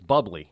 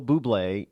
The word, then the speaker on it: Bublé: Yeah, Michael, some people might say it's bubbly. No, that's the way I pronounced it when I first heard him years ago. But his name is Michael Bublé, and he's a Canadian.